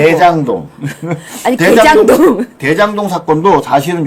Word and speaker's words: 대장동: 발음 정확하게 해서요. 개장동이 아니고. 대장동.